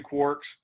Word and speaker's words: quark: which ones have three quarks and that that's pronounced quark like a qu because it's actually spelled that way and it comes from